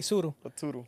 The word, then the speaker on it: Tsuru: Los Tsuru Ah sí sururu tusuru es como esur con t pero la t no se pronuncia es como nosotros anunciamos